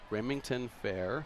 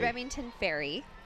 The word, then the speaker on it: Remington Ferry: So this says that the novelty award winners are Brady Moss, Remington Fair. Is that how you pronounce that? Or I think it's Remington Ferry.